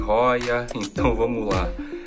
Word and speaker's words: Hoya: Vou falar Hoya, tá? A pronúncia certa é Hoya, mas eu gosto de Hoya, então vamos lá.